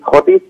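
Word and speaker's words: Thwaites: এখানকার যে major glacier, যেটাকে থটিস বলা হয় বা থয়েট বলা হয়, দুরকম উচ্চারণ আছে এটা, সেখানে সেই গ্লেশিয়ার যদি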